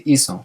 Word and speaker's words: hizo: That happens because if it were a c, we'd then pronounce it ico, because a c followed by an o makes the c a hard c sound. And here we want it to be a soft sound because it's hacer or hacer, so we want it to be hizo, hizo, and that's why